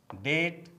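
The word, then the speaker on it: debt: कॉम, com, Baum, Baum, climb, climb, डेट, डेट, लिम, लिम, थम, थम, टुम, टुम, डम, डम, लैम, लैम, नम, नम, डेटर, डेटर, डाउट, डाउट, Plummer, Plummer, subtle, subtle.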